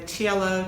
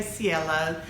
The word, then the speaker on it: Cielo: I am wearing the cello Top by closet core patterns I should say Cielo that's how they pronounce it and the mave skirt